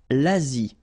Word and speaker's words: Asie: L'Asie. Same thing here. Final is not pronounced.